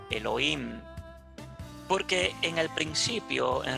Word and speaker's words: Elohim: de manera plural entonces se le pronuncia como elohim porque en el principio